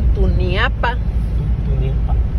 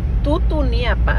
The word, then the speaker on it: Tutuniapa: Oh, pasamos por el río Tuniapa. Tutuniapa, así se llama.